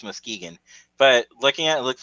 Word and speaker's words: Muskegon: that's how you pronounce that, Muskegon? Yep, Muskegon, I Michigan.